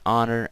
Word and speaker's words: honor: here's the funny part when you see a word that has you know that a sound when you know it wouldn't wear the H is for example our honor you get the idea so III don't say honor I say it's an honor meeting you sir or it's an hour okay so an honor